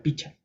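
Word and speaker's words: pichqa: kimsa chk piska sukta el pichka al cinco también puede ser picha Ya sucta seis kanchis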